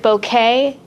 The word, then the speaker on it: bokeh: too so but then i just listened to the google sound of it and they pronounced it bouquet so i'm like okay